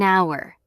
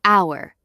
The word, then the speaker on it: hour: An hour. The H is silent, so it sounds like hour.